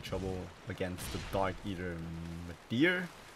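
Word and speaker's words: Midir: against the Dark Eater Madeir, that's how you say his name. I know I pronounced it wrong in the guide, but it's called Madeir. I called him Mitter.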